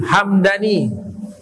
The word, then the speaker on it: Hamdani: Nah, belakangan dibacanya Hamadaniun. Hamadani, mimnya fathah. Kalau yang suku tadi mimnya sukun, Hamdani.